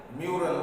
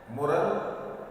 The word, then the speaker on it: mural: एक होते हैं जिन्हें हम इंग्लिश में म्यूरल बोलते हैं, MURAL, म्यूरल। उच्चारण के हिसाब से या अलग अलग जगहों पे अलग अलग उच्चारण की तरह से मुरल या म्यूरल दोनों बोले जाते हैं।